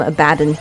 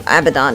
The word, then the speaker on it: Abaddon: I used to call him Abaddon. But I believe Abaddon is the correct pronunciation.